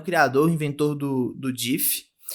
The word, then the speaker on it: GIF: E o discurso dele, em vez de fazer um discurso, ele colocou um DIF na tela que falava que a pronúncia é DIF e não gif.